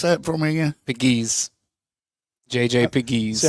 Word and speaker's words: Pegues: Pegues. JJ Pegues. See, I think they just said Peggy without the S.